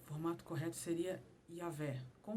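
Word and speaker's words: Yahweh: vogais para não perder a forma correta de pronunciação das palavras originais. Desse jeito, o formato correto seria Yahvé.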